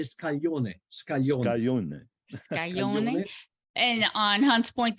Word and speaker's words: scaglione: So scaglione is spelled like scallion, then, right? Scallion, yes. With an E on the end. Scaglione. Yes. Scaglione. No, it's SCAGLIONE. Is GL in Italian.